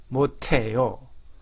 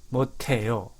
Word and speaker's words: 못해요: 못해요, 못해요. 자, 이 발음은 이런 발음이 모국어에 없는 나라가 많습니다.